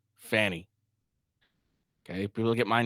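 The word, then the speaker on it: Fani: It's spelled F-A-N-I, and that's how they're gonna say it. Fanny.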